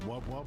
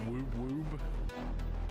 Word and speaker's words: wub wub: It's pronounced wub wub, not woob woob.